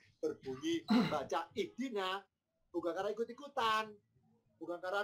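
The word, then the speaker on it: اهدنا: Kenapa kita terbiasa bacanya ihdina? Kok tidak ahdina? Kok tidak uhdina? Ya karena huruf ketiganya kasroh. Karena dalnya kasroh, alifnya ikut kasroh.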